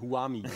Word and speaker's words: Who Am I: Und das wird aber italienisch ausgesprochen, Huami.